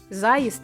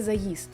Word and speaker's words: заїзд: На приросткові мали б зберігати наголошення такі слова: затримка, а не затримка. Заїзд, а не заїзд.